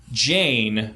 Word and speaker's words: Ganne: transgen closet and things, as Jane, spelled Ganne, rhymes with plane.